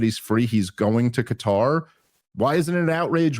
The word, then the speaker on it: Qatar: Also, if someone from uh is it Cutter or Qatar? I don't even know. Cutter is closer to being correct.